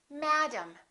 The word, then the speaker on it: madam: it's gonna be ah madam madam and this a is going to be completely different from this a they're two different sounds because one vowel is stressed and vaunt one vowel is reduced madam look at the